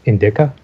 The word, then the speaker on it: indica: And that all of the other ones, and yes, it is pronounced indica, because I don't believe you. It's from India.